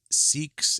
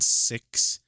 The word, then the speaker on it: Sikhs: The founder of the Sikhs, and before anybody corrects me, like Sikhs and Sikhs, S-I-K, S. That's how it's spelled. I've seen in the dictionary like both pronunciations are permissible, so don't give me any shit for that.